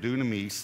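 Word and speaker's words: δύναμις: it's the Greek word Dunamis do we say Dunamis is the way we would say it but Dunamis is why it would be pronounced and it means power but it means explosive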